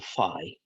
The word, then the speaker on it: phi: guy well I column Phi sounds a bit like f i Phi although sometimes I call